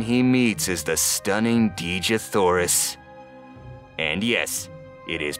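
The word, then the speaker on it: Dejah: very first one he meets is the stunning DJ thorus and yes it is pronounced dija we looked it up Princess of Mars cast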